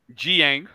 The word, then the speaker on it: Dieng: Jiang.